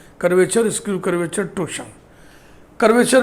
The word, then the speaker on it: torsion: देखो ये TORSION टॉर्सन भी बहुत लोग बोलते हैं, लेकिन इसका सही उच्चारण है टोशन। आर इसमें साइलेंट रहेगा।